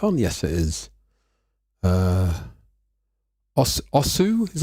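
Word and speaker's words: osu!: is my mic on yes it is uh osu is how you pronounce it it's a rhythm game it has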